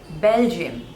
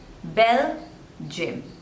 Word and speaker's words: Belgium: Bahrain next one is Belgium Belgium so again there are two sleepers and the stress is on the first level Bell gym Belgium Belgium Belgium next is